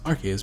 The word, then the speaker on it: Arceus: lately as soon as possible or attack with our key as a soon as problem possible so Arceus it's pronounced our key is because of the rks system that sil valley